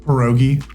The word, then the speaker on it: pierogi: it wilson well uh pierogi i see i'm sorry if i'm not pronouncing it you're saying it correct not all scammers are